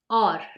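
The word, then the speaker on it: और: sentence and in Hindi it is called or yes it sounds exactly like the English word or but it means and in Hindi or so how will you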